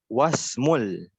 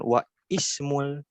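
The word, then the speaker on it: واسم: Jadi prakteknya adalah ismul waladi Muhammadun wasmul. Wasmul. Jadi bukan wa ismul tapi wasmul binti Zainabu. Nah, kenapa dibacanya wasmu?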